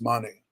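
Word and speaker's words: Mané: favorite soccer players um sadio mane it's pronounced mani the other one i'm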